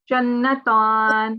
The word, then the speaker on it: جنتان: أعوذ بالله من الشيطان الرجيم بسم الله الرحمن الرحيم ربه جنتين Jannah, not Bain. Jannatan.